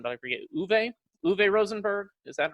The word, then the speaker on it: Uwe Rosenberg: So, see, it came out in 2007, and you just told me the pronunciation, but I forget. Uwe? Uwe Rosenberg?